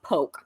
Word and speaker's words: poke: google some poke recipes it's spelled like poke p-o-k-e but it's poke um shannon have you